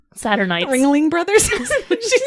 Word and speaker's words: Ringling: The The Ringley brothers. and sisters. Did you say it correctly? Saturnites. Ringling Brothers.